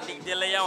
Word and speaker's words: Nick DeLeon: Did I pronounce that right? Nick DeLeon. Yeah, Nick DeLeon.